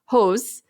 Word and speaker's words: Höss: Rudolf, his last name is pronounced Höss.